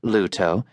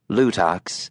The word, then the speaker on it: Luto: Though it was correctly pronounced Luto, not Lutox, as the co-driver kept calling it, John was keeping his mouth shut.